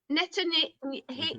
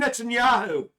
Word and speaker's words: Netanyahu: a christmas present now can i pronounce this benjamin netany hate yeah don't you mean netanyahu netanyahu that's the one no benjamin benjamin netanyahu